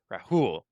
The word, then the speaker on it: Rahul: Okay, Rahul.